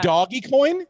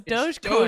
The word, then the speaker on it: Dogecoin: It's not Doggy Coin. No, it's DogeCoin. I still think it is. It's DogeCoin. I'm taking Brenton's word for that. Dog. It makes it so much worse that it's spelled like doggy. Doge. Like a doge, like a pupper.